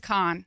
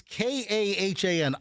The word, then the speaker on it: Kahan: I don't know that it's pronounced Kahan. Well, how do you pronounce it? I think it's just Khan. Khan? I think so. It's Kahan.